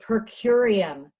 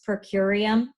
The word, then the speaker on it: per curiam: It was called a per curiam opinion. Has anybody come across that ever in reading anything about SCOTUS, per curiam?